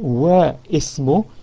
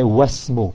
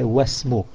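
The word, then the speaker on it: وَاسْمُ: So even though it's written there, but we drop it in pronunciation, and instead of saying Wa Ismu, we say Wasmu. Wasmu. Instead of Wa Ismu, we say Wasmu.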